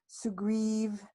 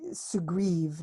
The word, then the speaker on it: Sugriv: And so it's really Sugriv, not Sugri, as said here.